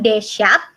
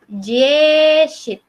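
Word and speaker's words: десять: Jadi bukan Deshat tapi Jeshit. Jeshit. Nah, Jeshit. Jeshit. Jeshit. Nah, ini kan ada soft sign atau miyaki zenaknya, bacanya Jeshit. Jeshit. Jeshit. Jadi kayak apa ya? Kayak sedikit mendesis pas di akhir kata.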